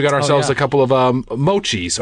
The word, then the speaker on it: mochi: We got ourselves a couple of mochis. How do you say it? It was mochi. Mochi. Yeah. You kept calling it moki. Did I really? Oh my God, what is moki?